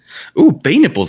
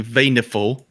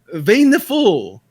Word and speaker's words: Vayniful: Bay Nipple's here. There's a lot of interesting names. Well, okay, I see the English spelling now. It's apparently Vayniful.